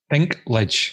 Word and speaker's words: Dinklage: Dinklage.